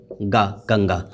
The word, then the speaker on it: गंगा: Okay, और गंगा, गंगा को कैसे उच्चारण किया जा रहा है? ग आधा अंग गा, गंगा। और पंकज, प आधा अंग क ज, तो पंकज, ये हो गया है।